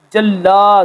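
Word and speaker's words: جلّاد: علامت ہے، غرانہ، پھندا، جلاد، یہاں پر بھی تشدید آئے گا کیونکہ لام کو 2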